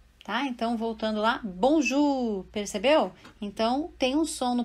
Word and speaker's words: Bonjour: palavra e já com essas dicas vai saber pronunciar de imediato né então por exemplo a primeira dica a palavra Bonjour né bom Ju você tem aqui na escrita em francês eo